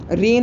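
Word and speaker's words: reign: आई am pronouncing it reason of terror. आप रेन of terror बोलना क्योंकि मेरा मन करता है इसको रीजन ऑफ टेरर बोलने का.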